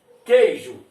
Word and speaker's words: queijo: Queijo, Q-U-E-I-J-O, a escrita. Mas como é que a gente pronuncia? K-E, esse I aqui é semivogal, porque temos um, né, nesse caso aqui um ditongo, temos um dígrafo aqui, Q-U, e depois um ditongo. O I está funcionando como semivogal, então K-E, Q, bota o Y, G-U.